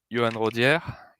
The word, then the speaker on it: Yoann Rodiere: So I'm Yoann Rodiere. That's how it's pronounced.